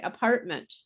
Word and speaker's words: apartment: say that temperature um when we say apartment we if this is we don't even say the t so listen to how i say apartment we skip the t completely again the way uh